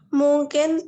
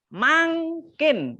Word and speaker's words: mangkin: Mungkin tanpa siring. Dah, itu mangkin. Nah, membacanya begitu ya. Mangking tanpa siring.